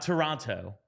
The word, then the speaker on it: Toronto: your wrongness I will continue to pronounce the city's name the way it is spelled and the way it is Toronto Toronto I'll go I'll go